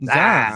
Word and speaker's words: Zion: Like you just make it one syllable. Zion.